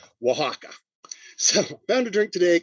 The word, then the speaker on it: Oaxaca: there's the city of mexico it is called oaxaca that is as close as i can get to pronouncing the name of it correctly oaxaca so found a drink today called the wahawkin